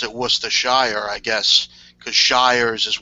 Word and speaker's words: Worcestershire: Well, so they would actually pronounce it Worcestershire, I guess, because shires is what they call regions in England, shires. Yeah. So the original, I guess you'd say the correct pronunciation is shire, Worcestershire.